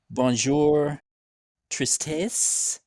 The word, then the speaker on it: Bonjour Tristesse: We got Black Curse, Undeath, Plague Fever, Bonjour Tristesse. Am I pronouncing that correctly?